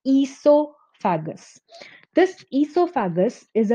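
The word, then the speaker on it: oesophagus: एस लिखते हैं एंड ओ is silent here. So इट is pronounced as ईसोफेगस.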